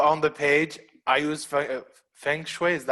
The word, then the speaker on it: Feng Shui: I would literally put on the page, I use Feng Shui. Is that how you pronounce it? Feng Shui. Yep, Feng Shui.